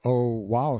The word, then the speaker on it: Oahu: i named him after this island oahu pronounced oh wow he the first gate